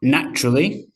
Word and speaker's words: natural: But in everyday common speech, it gets squished down to 2 sounds.